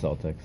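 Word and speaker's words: Celtx: So I read it, and I actually went to a program called Celtics. I think that's how you say it. Yeah, it's Celtics.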